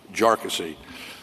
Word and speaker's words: Jarkesy: Jarky was entitled to um to a jury for these claims. And by the way, it's pronounced jarassy uh not not a number of other ways